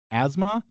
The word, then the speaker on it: asthma: That turns into sort of a z sound for us. Asthma. Asthma. It does. This doesn't it doesn't seem like No, it's still an s. Ismas. Why is this Why is the th silent?